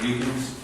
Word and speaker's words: Deacons: It's the, plan for the property of Mr. Deacons. Pronounce that right? Yes, sir.